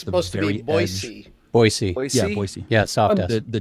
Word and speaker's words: Boise: but that's very cool are enough californians moving to boise that they pronounce it boise now because i know